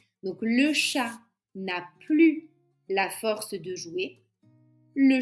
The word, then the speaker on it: plus: Je suis la plus âgée. Tu es la plus habile. Elle est la plus heureuse. Donc vous voyez que dans ces trois phrases, on prononce z.